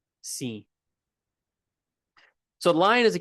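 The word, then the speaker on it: સિંહ: Like if you look at the English pronunciation of it, kind of ignore that in a way. It's just pronounced sinh. sinh So, the lion is the king of the jungle.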